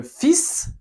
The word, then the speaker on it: fils: Normalement, on ne prononce pas la S finale en français, mais là on la prononce le fils.